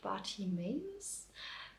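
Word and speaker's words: Bartimaeus: and the series is called party maize at least that's how we pronounce it in German I have no idea how it is pronounced in English the series is by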